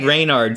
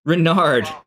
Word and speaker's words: Renard: your character name renard i've been saying like reynard sorry renard and dark sunder go